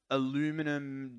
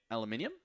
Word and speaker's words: aluminum: By the way, if you're wondering whether it's aluminum or aluminium, they're spelt differently. This one is spelt aluminum, so I'm saying aluminum. Even though in my country, we'd probably spell it and say it aluminium, but it's fine.